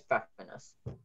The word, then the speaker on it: Pfeffernuss: There are double Fs and the first part, is it called Pfeffernuss? Yeah, Pfeffernuss. Or there's kind of a pfeffer, but that's only its alternate pronunciation and it's very small. But yeah, normally it's Pfeffernuss.